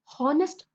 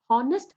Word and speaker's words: honest: So I'm concentrating something called as honest, hence it is pronunciation which comes into picture. So we call it as, it is a vowel pronunciation. So we start with honest, honest, and we give it as an. Okay.